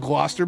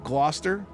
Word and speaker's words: Gloucester: But, this is pronounced Gloucester by the way. If you're not from New England, you may stumble on that one. Gloucester. Gloucester, like gloss. Like something that's glossy. Gloucester.